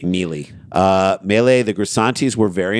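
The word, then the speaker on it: Maele: According to Melee, I'm just pronouncing it that. It's M-A-E-L-E. Mealy.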